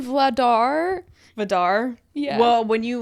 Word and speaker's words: Vladar: to say this okay I said Dan vodar why because it sounds like Darth Vader which is so cool for a goalie it's Dan vladar vdar yeah well when